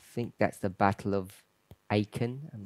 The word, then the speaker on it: Aachen: I think that's the Battle of Aachen. I'm not sure if I'm pronouncing that correctly. It's in Germany. Schlacht von Aachen. Is that where we had a camp meeting? Aachen.